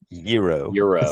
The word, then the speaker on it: gyro: Joris, how do you pronounce it? Is it gyro? Gyro? Grow? What is it? Euro.